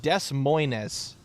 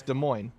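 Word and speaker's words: Des Moines: o i n s so it looks like Des Moes or Des Mo but it's De Moine hi W how did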